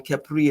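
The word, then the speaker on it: Khepri: Okay, and that's Kepri. That's Kepra. That's still the Our Kepri is the way it should be pronounced.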